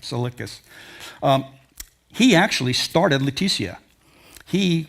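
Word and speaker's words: Tsalickis: Easy to find, but the T is silent, from what I understand. Salicus.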